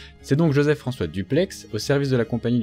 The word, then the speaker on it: Dupleix: certain joseph françois dupleix oui je sais bien qu'il y ait débat sur la prononciation en particulier du x mais l'usager un certain nombre d'arguments basé sur sa région d'origine faut que visiblement il fallait le prononcé ainsi même s'il y a aussi des arguments pour une prononciation différentes c'est donc joseph françois